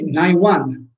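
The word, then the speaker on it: 内腕: Wan, Gai Wan, e Nai Wan, Uchi si legge Nai, e quindi sarà riferito al braccio.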